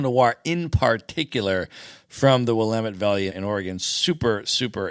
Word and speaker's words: Willamette: She said, because people always think it's Willamette or something along those lines, because how it's spelled, you wouldn't think to say Willamette. But the trick is Willamette, damn it.